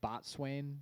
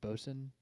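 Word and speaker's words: boatswain: is that it's like it looks like bot Swain but I think it's pronounced bosen oh really boson I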